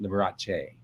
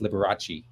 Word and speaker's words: Liberace: have been salvatore liberace you would have pronounced it liberace not um not the angle the americanized liberace that you we've all